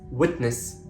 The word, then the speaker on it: witness: by a consonant sound for example witness I'm not saying witness or witness it's witness some more examples football